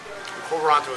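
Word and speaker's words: quo warranto: heard that since I was in law school konto is an obscure RIT that's used to challenge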